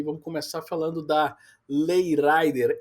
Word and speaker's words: Rider: rider é rider, né? Em inglês seria a pronúncia correta, mas a gente vê o pessoal pronunciando na Espanha Lei Rider. Lei Rider. Então, esticando bastante esse R, né?